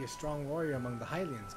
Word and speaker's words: Hylian: have a moment to talk oh it is pronounced hylian oh no okay aha a hylian yes i